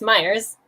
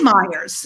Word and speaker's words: Mayers: correct. You say it correctly. It's Myers. It is Myers.